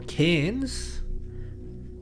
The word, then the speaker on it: Cairns: Taiwan they're gonna do Sydney to Cairns or Cannes that's how they say it here every time I say